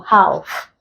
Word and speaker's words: half: Another example, half. You transcribe this, we get this. So the L is silent.